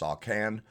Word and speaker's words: Soth Canth: Pronounced Sawcan. Pronounce it how I'm going to pronounce it.